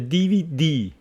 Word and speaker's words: DVD: good one one of the DVD stress on the last letter the DVD one of